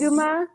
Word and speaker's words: Aguma: Did I pronounce that right? Yes. Aguma?